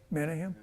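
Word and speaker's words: Menahem: a king of the northern Kingdom can anybody pronounce that huh menim that what what all he would say menim that's how you say it in English um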